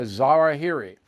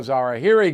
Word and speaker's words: al-Zawahiri: Now, I know his name is pronounced another way, but I don't care. I'm calling him a Zawahiri.